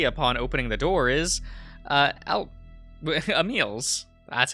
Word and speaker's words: Emil: The first face I see upon opening the door is, Emil's. That's how you pronounce that name.